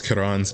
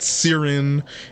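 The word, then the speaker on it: Ciaran: So, it's not Sirin, it's not Kyrion or anything like that. It's Kiran. Apparently, she says it herself and then another person also says it and they say it the exact same way.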